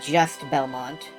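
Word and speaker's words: Juste Belmont: Everyone says it's pronounced juiced Belmont. And uh I look at it and I see just Belmont with a silent e or it could be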